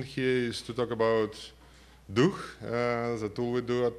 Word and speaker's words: DUH: is to talk about Duke the tool we do at SCI 5 yeah you can pronounce it da it's fine but it's actually Russian for spirit Duke actually all Slavic language